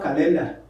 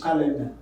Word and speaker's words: calendar: they do all right calendar remember we don't have calendar what you have in english is calendar horrible cardigan hemolyte not